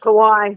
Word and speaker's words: Kawaii: How do you pronounce it? Quo or however you say it. Kawaii.